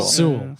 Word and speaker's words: Sewell: Sewell.